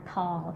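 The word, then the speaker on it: ทอง: R, T-O-R-N-G, Kuman Thong, okay?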